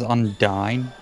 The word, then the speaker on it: Undine: No, her name is Undine. As in a pun on undying.